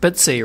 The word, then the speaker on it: BTSE: about the BTC exchange and I think that's pronounced bitsy right that's correct okay so we'll talk about